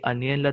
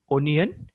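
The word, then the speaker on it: onion: जर चुकला असेल तर आणि अनियनला तुम्ही ओनियन म्हणाला तर काही विशेष आभाळ कोसळत नाही मी तर तुमच्यासाठी तुमच्या स्क्रीनवर ओनियनच लिहिलंय स्पेलिंग काय ओ एन आय ओ एन ओनियन मी याला अनियन म्हणतो तुम्ही ओनियन म्हटलं तरी काही हरकत नाही एकवचन असेल तर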